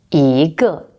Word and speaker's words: 一个: Another example, 一 is not always pronounced 一. For example, 因一个 it's changed to a second tone, so we pronounced it 一个.